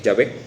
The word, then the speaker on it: Yah: nuevo realmente es sino la traducción correcta la la pronunciación correcta del nombre que es yah y que bueno ahora